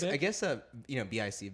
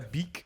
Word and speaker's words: Bic: Because I guess BIC Bic, right? I'm pronouncing it right. Like has No, it's a Beak. It's a French company. It is actually a Beak. French company.